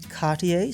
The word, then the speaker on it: Cartier: now you're probably thinking Cartier sounds fancy enough that I should pronounce it with a French accent even if mine is terrible and you'd be right but here's something unexpected Cartier's most iconic watch.